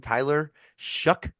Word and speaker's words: Tyler Shough: But Louisville brings in Tyler Shough, spelled not like that, but that's how you pronounce it.